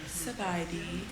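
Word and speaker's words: ສະບາຍດີ: So next time you see someone, you should say Sabadi.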